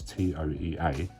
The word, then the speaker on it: Toea: I'm not sure exactly how you pronounce that, I'll be honest. It's Toea.